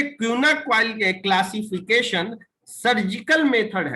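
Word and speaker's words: Couinaud: हम लोग कहते हैं क्यूना क्वालिफिकेशन। देखिए लिखा हुआ तो है CAUINAUD, है ना, लेकिन इसको प्रोनाउंस करते हैं क्यूना क्लासिफिकेशन।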